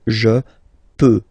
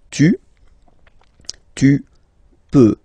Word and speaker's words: peux: Final X not pronounced here, okay? So you've got X, but you don't pronounce it, so basically you get the sound peut, je peux, okay, so I can, je peux, okay. Then tu peux, same pronunciation and same spelling or writing, okay. P-E-U-X, okay, don't pronounce the final X.